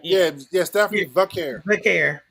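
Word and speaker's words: Vaquer: Yeah, Stephanie Valcare. Valcare. Yeah, drop the L. Just drop the L. Valcare.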